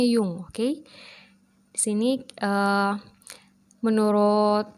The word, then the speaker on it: Jung: g Itu Gustav ya ini tulisannya Jung tapi dibacanya Yung oke di sini eh